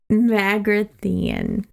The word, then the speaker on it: Magrathea: be our first pin it's pronounced mag see here Magrathea so back in a